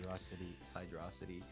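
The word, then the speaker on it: Hydrocity: It's after Hydro City. Hydrosity. So say it right. Hydrosity.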